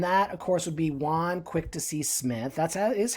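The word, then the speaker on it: Jaune Quick-to-See Smith: today uh and that of course would be juan quick to see smith that's is how you pronounce it um and she typically brings in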